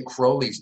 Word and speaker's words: Crowley: probably it's Crowley right Crowley rhymes with holy he rhymed it with holy in this poem called the beetle so oh very clever